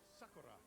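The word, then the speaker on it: 桜: Or Sakura, if you want to pronounce it with its Japanese pronunciation.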